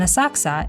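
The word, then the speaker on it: Asakusa: mean shallow grass and are pronounced senso in Chinese and A saksa in Japanese while this spot is free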